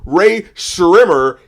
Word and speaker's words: Rae Sremmurd: makes no sense because it's supposed to be said like Rae Sremmurd, even though there's no H between the S and the R. So you have to remember there's a silent H between the S and the R, and if you don't pronounce the H, then you will never get our name correct.